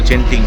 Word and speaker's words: Genting: কারণ আজকে আমরা এখান থেকে বেরিয়ে কুয়ালালামপুর হয়ে চলে যাব জেন্টিং আইল্যান্ডে। মালয়েশিয়ান ভাষায় জেন্টিংকে গেন্টিং আইল্যান্ড বলা হয়। মালয়েশিয়াতে উচ্চারণটা এইভাবেই, কারণ ওদের জির উচ্চারণটা গ উচ্চারণ হয়।